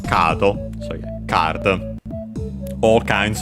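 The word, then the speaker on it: カード: This one is actually accented as expected on the ka, on the first syllable, kado.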